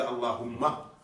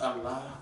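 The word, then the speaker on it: الله: que je parce que beaucoup disent Allah Allah Allah et ne prononce pas le ha alors que ce ha est d'une telle importance dans ce nom Allah Allah mais quand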